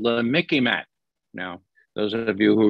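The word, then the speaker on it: MICIMATT: should be called the mickey mac now those of you who remember mickey mouse okay it sort of rhymes with mickey mouse that's how you remember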